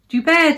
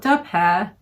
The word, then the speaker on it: Dubar: Dubar, Dubar, dear, not Dubai.